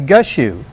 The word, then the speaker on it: Gushue: her last name, but I'm going to say Gushu. You've got it right.